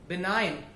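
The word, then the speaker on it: benign: साइन, कुछ साइन करना, for example बिनाइन, तो ऐसे जो वर्ड होते हैं इसमें जी हमारा साइलेंट रहता है और एन हम पढ़ते हैं.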